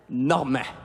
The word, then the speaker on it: Normand: une semaine, je m'appelle Normand. Pour aucune raison. Je dis à tout le monde que je m'appelle Normand. Puis je dis que ça se prononce Norman.